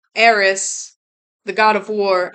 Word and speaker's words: Ares: Eris, the god of war. I always say it wrong because I always want to say Aries, but I know it's not pronounced Aries.